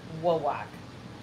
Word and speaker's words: Wawak: I'm not sure who came up with the name Wayback, but I love it. It's actually Wawak. Wawak? Wawak is how it's supposed to be pronounced.